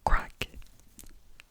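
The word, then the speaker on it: craic: Funny I say that because the first word is crack. Crack, crack. And it's spelled C-R-A-I-C. Not like C-R-A-C-K. It is C-R-A-I-C. Crack.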